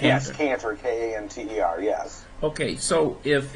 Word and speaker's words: Kanter: Kanter, that's how you pronounce it, correct? Kanter. Yes, Kanter, K-A-N-T-E-R, yes.